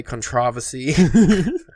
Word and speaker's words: controversy: And there's every once in a while there is contention, controversy, as British Ash would say, controversy.